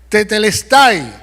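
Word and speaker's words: τετέλεσται: es en el idioma original la palabra se pronuncia tetelestai que significa la deuda ha sido pagada alguien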